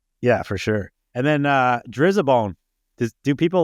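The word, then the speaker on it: Driza-Bone: And then Drizzabone. Do people like the old shit? I think it's pronounced Dryzabone. Dryzabone. Okay. I don't know. That's how we pronounce it, but maybe we're doing it wrong.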